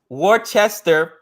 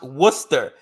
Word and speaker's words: Worcester: AR Jun here says Worchester is pronounced Worcester exactly exactly I'm like how